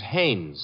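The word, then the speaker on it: Haines: Hines used to fish out no no not Hines Haynes couldn't be Huntingburg no it couldn't be the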